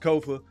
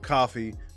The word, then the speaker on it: Kofa: Once again, I am your humble host, Kofa, K-O-F-A, not coffee, not kufu, not Kofi, or any variation thereof. Kofa rhymes with sofa.